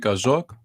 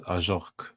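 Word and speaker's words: Ajorque: I think it's Ajorc, so pronounced French, I believe.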